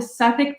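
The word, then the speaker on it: Southwark: end of the show it's at a theater called the suffolk playhouse but it's spelled like south work oh yeah i was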